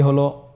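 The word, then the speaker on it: هاء: হ্যাঁ হা হরফটি উচ্চারণ ক্ষেত্রে অবশ্যই বারিক হবে এবং 1 আলিফ টেনে পড়তে হবে।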